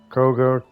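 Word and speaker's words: Kagha: reveals kga Cor corga kog anyway however they always say it like like there's an r in there there's no R in there anyway kog um KAG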